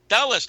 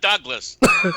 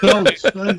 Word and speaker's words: Dulles: But having said that, if you think it's Alan Douglas, Alan Dulles. Dulles, not Douglas. Dulles.